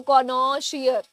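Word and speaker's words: connoisseur: कनेशिया के प्रोनंसिएशन में the first O is pronounce like the ओ इन पॉट. सो कॉ पॉट कॉट, तो कॉनो shear. On the second O is pronounce like the final sound in China. So द सी is pronounce like क एंड सर.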